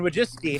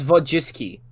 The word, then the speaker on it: Wojcicki: I mean, the W in Polish is pronounced like a V.